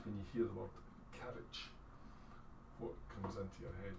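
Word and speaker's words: caraid: So it's spelled C-A-R-A-I-D, but it's pronounced carriage, and I know it's friend.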